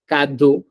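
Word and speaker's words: cadeau: So we read that whenever there is a C A, C O, and C U, it's pronounced as ka. We read these words kado, ku, kulchu. You see, the sound that's coming is k and not s.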